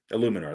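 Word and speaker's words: Eluemunor: Illuminor, that's how you say it.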